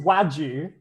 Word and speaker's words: wagyu: It's That pronounced Wagyu.